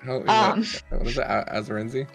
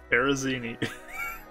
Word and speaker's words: Arizini: Azarenzi, right? No. Arizini.